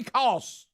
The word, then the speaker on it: Koss: caught is it costs Kobe Koss k-o-s-s you know what that rhymes with don't you Kobe Halls so anyway he'll be